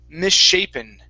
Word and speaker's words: misshapen: This does look like mishap, okay? But this is misshapen. Misshapen.